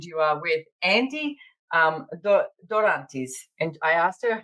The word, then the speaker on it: Dorantes: last name Andy welcome dorantes dorantes and she said to me if you want to roll your RS and I was like